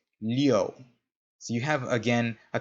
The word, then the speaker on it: Liu: This one is pronounced liu. So you have, again, a kind of an sound in there. Liu.